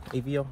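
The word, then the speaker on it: Aveo: AVO, I pronounced it right, A-V-E-O.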